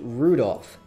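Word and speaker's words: Rudolf: I'll tell you that that mess of characters is pronounced Rudolph he must hate grandfather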